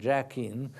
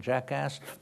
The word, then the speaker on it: Jachin: you know, Boaz and Jachin, which. Someone pronounced them Boaz and Jackass. Well, it rhymes, you know.